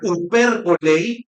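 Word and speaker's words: ὑπερβολή: Y esa palabra, que en griego se pronuncia hyperbolei, que de ahí deriva la palabra en nuestro idioma, la palabra hipérbole.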